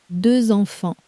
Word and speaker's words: deux enfants: The number two ends in one of day one's silent letters, but the word for children starts with a vowel so the sleeper wakes up. A little Z glues the two words together.